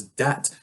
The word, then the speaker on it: debt: A debtor is someone who owns debt. This is closely related to the word debit, as in debit card. From the Latin, the word debt just has that silent B because English speakers are lazy, I guess.